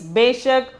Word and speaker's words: बेशक: The 10th one is beshak. The pronunciation is beshak.